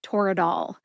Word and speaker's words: Toradol: As for the brand name Toradol, Toradol has 3 syllables and a lot less controversy on the pronunciation. Tor, which rhymes with door, which is a short A sound or a schwa A sound, and dol, like dolphin. Put all 3 syllables together and you get Toradol. Emphasize TOR and DOL.